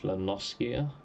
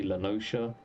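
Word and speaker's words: La Noscea: I've always said this as Lanoskia. I've heard others say Lanosha and stuff like that. I'm gonna be saying it with a hard C.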